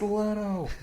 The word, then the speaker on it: Leto: yeah and now did you see James Franco mispronounce Jared let's name and then Jared back it's Leto and then and then Leto goes up and